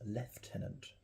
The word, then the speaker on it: lieutenant: The precise pronunciation linguistically and officially is lieutenant.